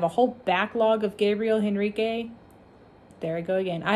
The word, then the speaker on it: Henrique: I always say it wrong. I'm so used to saying Gabriel Henrique. It's Gabriel Henrique.